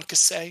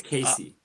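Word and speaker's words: Kasay: kickoff of this game john cassay mind pronouncing that correctly john cassay i think it's casey casey john casey okay john casey the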